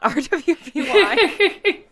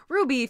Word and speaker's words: RWBY: think Lauren that's right this is is pronounced Ruby and not RWBY is hard because I'm